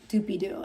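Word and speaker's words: Doopiidoo: It's spelled different. It's spelled like D O O P I I D O O I believe. Dupydoo.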